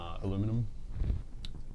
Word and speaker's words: aluminium: aluminum. Wow, aluminium.